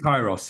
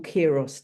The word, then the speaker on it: Kairos: Is that the right way to I say pronounce Kairos, yeah, Kairos Kairos school.